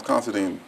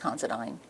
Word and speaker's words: Considine: Um, Miss Considine, um, you're here for your deposition. Do you understand that? Yes. I'm just a point. My name is pronounced Considine. Considine.